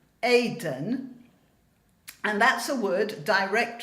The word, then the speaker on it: Eden: Actually, maybe a bit more than that, because the word, which we in English pronounce Eden, is pronounced in Hebrew, Eden, and that's a word